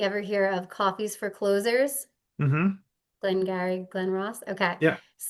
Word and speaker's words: Clohz: And I decided to use a spin on the word, and that's why it's spelled oddly, CLOHZ. So close, like deals closing.